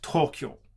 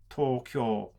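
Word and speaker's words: 東京: You don't have word stress contrast in Japanese, so when you speak Japanese, you try to put equal stress on every single syllable. So it's not Tokyo, for instance. It's not Tokyo, it's Tokyo.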